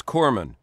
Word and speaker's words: corpsman: it is it is Corman you don't pronounce the S yeah I mean it's not very good for a guy delivering first aid to be called a corpsan yeah yeah kind of